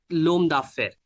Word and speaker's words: l'homme d'affaires: So just because of H is silent, so we'll not be pronouncing that. So l'homme d'affaires, like that.